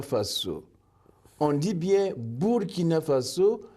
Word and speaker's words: Faso: Et Faso, F-A-S-O, là aussi on ne dit pas Faso, mais Faso, qui veut dire la terre ou le pays.